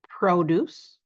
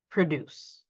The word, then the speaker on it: produce: So they are a noun if we stress the first syllable, but they turn into a verb if we stress the second syllable.